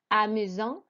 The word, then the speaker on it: amusant: Then we had number 6, which was amusant. Again, do not pronounce the T at the end.